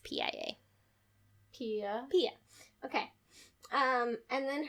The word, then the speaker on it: Pia: How do you pronounce P-I-A?